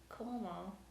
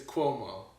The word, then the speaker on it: Cuomo: most topic that caught my eye was chris coleman is how you say i think i took